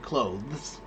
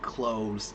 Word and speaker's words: clothes: So, what I would tell you is when you say the word clothes, don't even worry about the th at the end. Just say the word close as in close the door. C l o s e. Close the door. Right? Say it that way and then everyone will understand the context and no one will question your pronunciation.